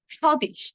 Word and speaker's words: স্বদেশ: অর্থাৎ শব্দের শুরুতে যদি বফলা থাকে, তাহলে আমরা বফলের উচ্চারণটি করব না। যেমন ধরুন, স্বদেশ বা স্বাধীন।